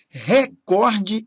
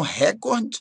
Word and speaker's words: recorde: cível, exegese, batavo, azimute, recorde e não recorde. Recorde é a pronúncia do inglês, record, ok?